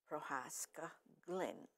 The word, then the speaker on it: Prohaska Glinn: And I have Elena with me, Prohaska Glinn.